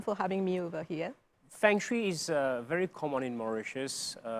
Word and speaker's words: feng shui: feng shui well feng shui is in fact pronounced as feng shui okay so origin is china about 4 000